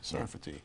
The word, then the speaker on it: Sarfati: the point of the book and am I pronouncing your name properly it's a safari sarti sarati sarfati in Hebrew Sarat is France right so sarti